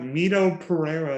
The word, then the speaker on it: Mito Pereira: uh meet oh am i saying it right mito pereira at 6700 and again playing wall this week yep yes that pronunciation and i mentioned this week he'll be